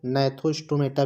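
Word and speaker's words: Gnathostomata: और उसके बाद जो है गैनेथोस्टोमेटा, इसको नैथोस्टोमेटा भी पढ़ा जाता है। यहाँ पे जी क्या है, साइलेंट है, तो इसको नैथोस्टोमेटा भी पढ़ सकते हैं।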